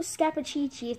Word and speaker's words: Scappaticci: lot of shoutouts so staff a cheat sheet that's how you say it I'm s I